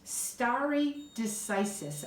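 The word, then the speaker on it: stare decisis: it is rule of law and it is starry decisis I'll spell that for you that's a Latin term two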